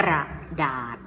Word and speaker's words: กระดาษ: คะ ท่าน ต่อ ไป คำ ว่า กระดาษ กระดาษ ศรศรี เป็น ตัว สะกด นะ คะ อัน นี้ คือ คำ เขียน พอ เป็น เสียง อ่าน คำ อ่าน นะ คะ อ่าน ว่า กระดาษ อา อา ดาษ หา เวลา เรา เขียน